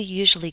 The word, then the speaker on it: usually: bottom how does he usually get in how does he usually usually stress on you usually usually usually usually how does he